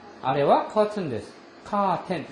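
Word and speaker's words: カーテン: 카텐. 일본식으로 발음하면 카텐 데스.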